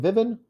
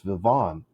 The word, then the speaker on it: Vivian: It's Vivon. That's a horrible stress. Put that right there. If the first syllable is stressed, it's Vivian. If the second syllable is stressed, it's Vivon.